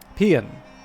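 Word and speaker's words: paean: French French uh okay got what I needed pronunciation pean okay so Erica pan Thunders skins pean there you go this is what you get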